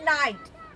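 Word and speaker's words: knight: আগে কে থাকলে সেই কে উৎস থাকে অর্থাৎ সাইলেন্ট থাকে যেমন নাইট আবার কেন কেন কেন সাইলেন্ট থাকছে কেন কে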